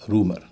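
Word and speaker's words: rumour: रूमर में यू का उच्चारण यू नहीं होता। उ होता है। कई लोग इसे रूमर कहते हैं। लेकिन आर यू एम ओ यू आर इसका उच्चारण होता है रूमर।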